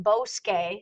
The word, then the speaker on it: bosque: And again, that QU as in forest, bosque, sounds like a K, but remember, forget the letter K.